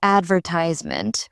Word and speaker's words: advertisement: Another word is advertisement, where British English stresses the second syllable instead of the third.